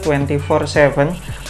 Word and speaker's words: Twenty47: twenty for 7 dan Kenapa gue cukup yakin cara bacanya tuh 2047 jadi 2047 itu Setahu